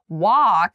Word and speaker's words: walk: Walk, however, is very open. Wah, like your mouth is a bit tall.